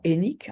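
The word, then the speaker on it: Hainich: Le nom s'écrivait H-A-I-N-I-C-H en roumain. Mon grand-père a toujours prononcé notre nom Hennik, en disant que ça se prononçait Hennik en roumain.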